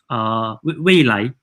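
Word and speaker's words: 蔚来: And then Nio in Mandarin is called Weilan, Weilai.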